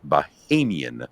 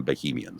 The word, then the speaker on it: Bahamian: And uh by the way, Get in Line on YouTube pointed out that I was pronouncing it wrong. It's Bahamian rather than Bohemian.